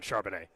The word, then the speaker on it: Charbonnet: Yeah, the Chiefs brought No, I know, but it is like 1,000% Charbonnet.